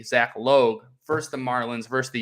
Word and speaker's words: Logue: bay at toronto and zach logue because i wrote it down l-o-h-g just so i would say it properly zach logue first the marlins versus